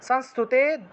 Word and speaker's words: সংস্তুতে: তারপরে দেখুন হিমাচল সুতানাথ সংস্তুতে, অনুস্বার শব্দের মাঝখানে আছে, সেজন্য নয়ের মতো উচ্চারণ হয়েছে, সংস্তুতে পরমেশ্বরী, তালবস্য নিচে বফলা, রূপম দেহি জয়ম দেহি যশো দেহি দ্বিষো জহি।